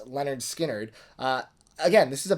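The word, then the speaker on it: Lynyrd Skynyrd: no exception this is leonard skinner's debut pronounced leonard skynyrd uh again this is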